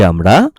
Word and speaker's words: আ: ছোট্ট সোনামণিরা, আজ আমরা বাংলা স্বরবর্ণের সঠিক উচ্চারণ শিখব।